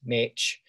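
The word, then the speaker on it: mec: The original version of me, at least in this particular text, is rendered as M-E-C, probably pronounced Mitch.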